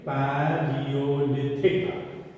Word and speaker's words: Paleolithic: Okay, pronounce this word correctly. Paleolithic. P-A-L-E-O.